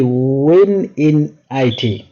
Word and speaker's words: wininit: be see how easy it is to uh misspell it when I N it yeah it will be win in it uh w i n i nit um so